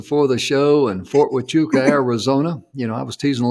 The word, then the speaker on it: Huachuca: the show and Fort Huachuca, Arizona. I was teasing the ladies. I said, I didn't know you pronounced Fort Huachuca, which is spelled with Huachuca. I didn't know you pronounced that with a W, because it is, but